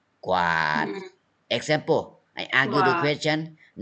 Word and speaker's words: กวาด: you say กวาด yes กอไก่วอแหวน you pronounce together กอ and วอกอไก่ and วอแหวน you pronounce together กวาด okay กวาด example กวาดพื้น sweep